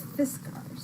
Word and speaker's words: Fiskars: It's Fiskas or Fiskars, right? Yeah. Fiskars. Fiskars. Yes. Mystery it's solved.